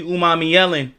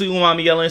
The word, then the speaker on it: Umanmielen: Today we going to go over Princely Umami Yellen. Yes, that's the correct pronunciation. Let me know if it's not though. Um, but I'm pretty sure it's Prince Umami Yellen.